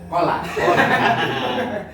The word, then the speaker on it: Chola: Bukan nyebutnya ini cola apa kola? Chola. Coca-Cola? Cola itu tulisannya Bacanya? kola.